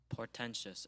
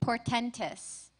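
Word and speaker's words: portentous: Portentious. Am I saying that correctly? Portentis.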